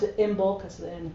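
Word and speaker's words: Imbolc: the you know the other uh um we pronounce it Imbulk as the end correct but whatever that's a whole another talk you know immulk and lunasa and and so those are and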